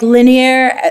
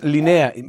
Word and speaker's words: Leneia: Like linear, like... Like a line. Horizontal line. A line, yeah. Really? Yeah, and it's not pronounced Leneia, but linea.